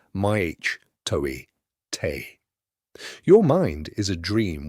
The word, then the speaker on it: mitote: Your whole mind is a fog which the Toltecs called a mitote, pronounced maich toi te.